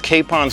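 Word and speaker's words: Capon: Right next to El Bagel is Kapon's Burgers. It is pronounced Kapon because it's by Chef Josh Kapon.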